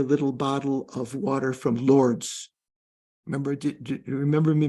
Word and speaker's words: Lourdes: Lord. Am I pronouncing it right? Not Lord. Lord. How do you pronounce? Who knows French? Lourdes. Lourdes. Oh, Lourdes.